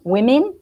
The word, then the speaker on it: women: like if well actually in say women if you think about the plural of woman women the o we pronounce it as if so we've got e